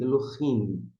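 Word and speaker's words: אֱלֹהִים: Consoante L, Elo. Aí nós temos o Re. O Re, algumas pessoas pronunciam, outras não. Não vou entrar aqui em discussão. Mas para marcar, para você saber que tem, é preferível que você pronuncie Elohim.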